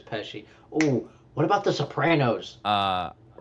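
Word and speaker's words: Pesci: Robert Dairo Joe Pesi I'm all these names. Alcino Pesi Pachet F. How do you pronounce it? Peshi I'm pretty sure it's Peshi.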